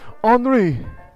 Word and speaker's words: Henri: Please, Henri. He's Hi, I'm. That's his name, Okay. is Henri, which is spelled kind of like Henry.